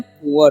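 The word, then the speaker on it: poor: देखिए क्या लिखा हुआ है यहां पर पी डबल ओ आर तो इसे हम लोग पढ़ते हैं पुअर क्या पढ़ते हैं पुअर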